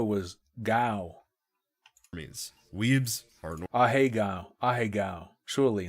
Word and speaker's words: Ahegao: Weebs are Ahegao. Ahegao. Surely, not Ahegeo.